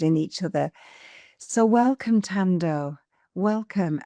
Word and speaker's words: Thando: So my name Thando, it's spelled with an H, which sometimes confuses some people because it's Thando. So sometimes people say Thando, but you don't pronounce the H in Zulu.